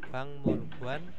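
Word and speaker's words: 박물관: Pang mulguanel kalalam Hatta bacanya pangmulguan ya ini ya bukan bangul nah bang mulguan Nah ini bukan kananram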